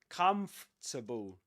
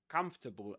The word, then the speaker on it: comfortable: But don't let the word trick you. That's not the way English works. So you will actually say this comfortable comfortable and you don't pronounce this one.